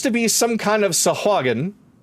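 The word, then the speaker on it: sahuagin: be some kind of sahagan bear I gave it the correct pronunciation for you Naraku who are her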